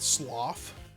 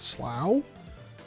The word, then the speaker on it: Slough: How do you pronounce that? Sloth? A sloth of food or something? I have no idea. Maybe in the UK. Sounds like an interesting slough. It's called slough.